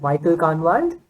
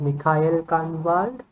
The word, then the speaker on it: Michael Kahnwald: it said Mikhail, well, I read it as Michael Kahnwald, but obviously it is pronounced as Mikhail Kahnwald, which obviously, it's basically the same name, apart from a couple of letters here and there.